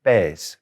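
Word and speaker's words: pez: another word for fish in spanish and it's pes p e z but that's a live fish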